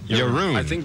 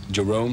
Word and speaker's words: Jeroen: Jeroen. I think they pronounce it over here like Jerome, something like Jerome?